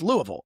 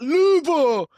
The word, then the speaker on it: Louisville: It's Louisville. It's not Louisville.